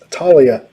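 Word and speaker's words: Taulia: seven in a row talia taggart pronounced talia that's right he was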